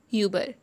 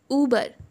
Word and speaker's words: Uber: Okay, a lot of people have heard calling Uber. It's Uber. It's an American brand. So, it's Uber, not Uber. What? Uber. Uber. Uber nahi hota.